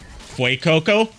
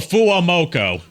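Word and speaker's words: FUWAMOCO: Fu Coco. The two girls that always go bow bow. Oh, fuamoko.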